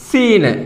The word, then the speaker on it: ز: സ എന്നാൽ ഇംഗ്ലീഷിൽ ഈ ഉച്ചാരണമാണ് വരേണ്ടത്.